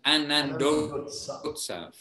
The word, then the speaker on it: Anandotsav: Anandotswa, but it's two words joined together. All right. Yep. Ananda Utsav becomes Anandotsav.